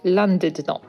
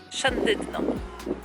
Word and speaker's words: Llandudno: Według angielskiej wymowy miejscowość, w której jesteśmy, wymawiamy landydną. Natomiast według walijskiej podwójne L jest wymawiane zupełnie inaczej. Szandydno.